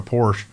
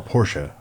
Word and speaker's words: Porsche: I mean, I always pronounce it Audi, but it's the same thing. Like I go to Porsche, and you Porsche, they're all Porsche.